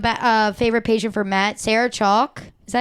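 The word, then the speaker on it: Sarah Chalke: Sarah Chalk. Is that how you pronounce her name?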